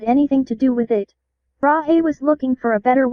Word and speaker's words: Brahe: That's pronounced Brahe, bub, and that model on the picture was debunked ages ago.